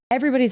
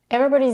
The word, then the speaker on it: everybody's: Everybody's affirmations are different. Everybody's affirmations are different. Everybody's. She reduces the vowel in the third syllable to a schwa. She doesn't say everybody's. She says everybody's.